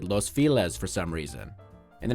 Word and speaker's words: Los Feliz: of Los Angeles and if you're a Spanish speaker who thinks I just horribly mispronounced Los Felice you're just gonna have to accept the fact that the people of La pronounce it Los files for some reason in